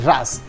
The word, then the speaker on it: रास: इट इज नॉट रासा, इट इज रास only. रास इज a dance to